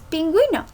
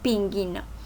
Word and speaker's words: pingüino: Un ejemplo muy claro que lo utilizamos en primaria y desde muy pequeños es pingüino. Si no pusiéramos las diéresis diría pinguino, ¿verdad?